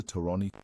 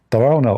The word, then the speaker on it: Tarawna: Tarani, Mohammed Tarani's permission. Mohammed Tarone. This The funny Ali Dawa, he do not know how to say the name. Tarawna obviously is a Jordanian name.